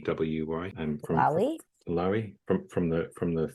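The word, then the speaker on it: Loewy: L O E WY from Lowi from from the from the 50s.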